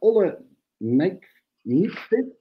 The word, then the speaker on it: Olle Nykvist: with us is Olle Nijkvist. I have to pronounce this well.